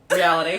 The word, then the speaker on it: REAL-ity: Reality. We've got to learn how to say that much better. No, it's reality, but it's spelled real-itty because we're funny.